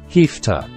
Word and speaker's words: have to: Listen and notice the pronunciation of have to, hefta.